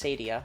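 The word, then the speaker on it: acedia: Sloth is a cyia. uh which is technically pronounced as Sadia but whatever and is represented by Belelfigore and Wrath is a is represented by Satan.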